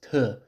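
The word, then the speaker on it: 特: For example, this character is pronounced te, so it's quite far from the original si.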